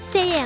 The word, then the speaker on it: Siam: The old name for Thailand is pronounced Siam in English and Sayam in Thai.